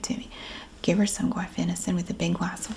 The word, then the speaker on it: guaifenesin: It has 4 syllables in it. And I know that's a challenge. This is guaifenesin. Guaifenesin.